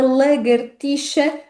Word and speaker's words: lagartixa: Portanto, como vê na palavra lagartixa, não há sons surpreendentes, não há aqui nada de novo relativamente às palavras anteriores.